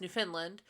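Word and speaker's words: Newfoundland: we started talking and she's like yeah it's New Finland New Finland like she made sure that I kept saying it correctly in yeah yeah New Foundland New Finland um but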